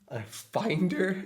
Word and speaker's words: Finder: the second one it's finder yeah that should be Finder right not finder finder yeah because it's like find you want to find your files and just Apple just